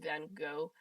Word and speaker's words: Van Gogh: Dude, it's said like van, like car van go, not Van Gogh.